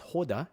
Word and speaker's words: Hoda: I believe the Egyptians told me that the way you pronounce his name is Hoda.